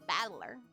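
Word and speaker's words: 戦人: Made up of the characters for fight and person, and it's pronounced Battler.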